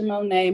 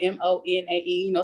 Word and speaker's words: Monae: On all social media websites, you can find me on simply Monet. Monet spelled MONAE. Some people spell it MONET. But it's MONAE.